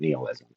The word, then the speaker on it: nihilism: and how Democrat nihilism He pronounces it nealism. I found out both pronunciations are correct. We'll look at the definition here in a moment. But why Democrat nihilism nihilism is at an all-time high right now.